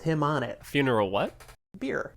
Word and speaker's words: Bier: Beer. It's pronounced beer? Like the believe so. drink? Yeah, beer. B-I-E-R, pretty sure.